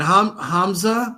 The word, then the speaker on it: Hamza: And Hamza, I'm sorry if I'm pronouncing your name wrong. Hamza, are you there too? No, you pronounce it correct.